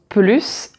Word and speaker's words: plus: Par exemple, cette voiture roule plus vite, elle est plus rapide, elle coûte plus cher, elle est plus cher. Là, tu as des adjectifs et des adverbes et on ne prononce pas le s.